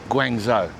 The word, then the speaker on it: Guangzhou: Guangzhou, that's how you say it. I'm sticking with that. That's how I pronounce it. I think it's right.